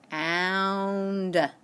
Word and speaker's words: bound: test on Friday ok so this time when I say bound I hear the owl sound but this time it